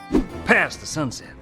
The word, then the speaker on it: past the sunset: So here the t in past is dropped at all three words combined.